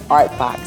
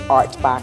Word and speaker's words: Ourtbox: And that is where the name derived from, Ourtbox, spelled O-U-R for hour, and I added the T, the pronunciation became Ourtbox.